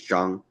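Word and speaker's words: Zhang: Last name is John Z H A N G.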